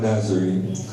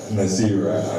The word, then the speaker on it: Naasira: So we have Mama Nazari. Mama Nazari is Naasira.